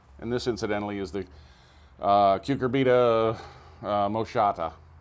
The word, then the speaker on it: Cucurbita moschata: One of the issues I wanted to make was that these are, and this incidentally is the Cucurbita moschata, I believe is how it's pronounced, butternut squash.